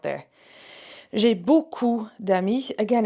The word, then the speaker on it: beaucoup: It's that OU sound. OU makes an oo, oo. Okay, it's much deeper. It's in the throat. You should feel your voice box moving.